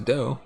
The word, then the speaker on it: Do: It echoing Nike's slogan they pronounce do as a doe to reflect Apple White's nickname the 39 inherents 21